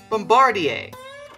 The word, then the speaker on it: Bombardier: by oh here we go bomba d a bombardier is that how you say it i think